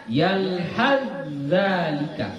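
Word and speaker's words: يلهث ذلك: Jadi bacanya yalhadzalika. Huruf ta tidak dibaca lagi karena sudah diidghamkan, ya, sudah diidghamkan.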